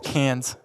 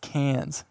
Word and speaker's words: Cairns: such a small difference cans Cairns every time I try and say that enough really well c-a-i-r-n-s like oh it's actually pronounced cans anyways in an Australian accent I wouldn't even dare